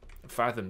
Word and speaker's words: fathom: Fathom 这个词顺便说一下